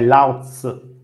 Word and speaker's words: Laozi: Si dice Lao Tzu o lo sto pronunciando malissimo? È Laozi.